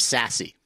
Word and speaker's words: SASE: hype cycle definition of sassy so here's the definition as listed secure access service edge pronounced sassy delivers multiple capabilities such